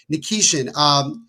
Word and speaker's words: Nikishin: Nikishin.